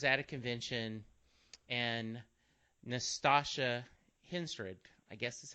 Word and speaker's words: Henstridge: is I was at a convention and Nastasha Henstridge, I guess is how you say her last name, Henstridge. From Species, Natasha Yes, Henstridge.